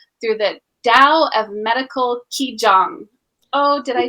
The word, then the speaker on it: Qigong: the Tao of Medical Qigong. Oh, did I say it right? It's okay, like cheese, right?